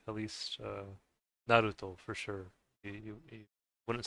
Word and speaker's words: Naruto: but I think the the way you'd pronounce the words, the R, it's more similar to uh Spanish actually because some people would say Naruto, but I I think it's Naruto. Naruto.